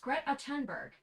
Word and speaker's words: Greta Thunberg: is and it's like Greta Tunberg you mean Greta Thunberg Greta Tunberg Did she die? Is that her name? Alexa, how do you pronounce Greta Thunberg? Greta Tunberg is pronounced Grettonberg.